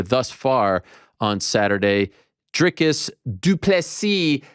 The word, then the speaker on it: du Plessis: far on Saturday drikis du plessis the S is silent damn it let's say